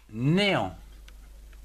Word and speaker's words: néant: Ou encore néant, N-E, accent aigu, né, A, N, T, en, néant.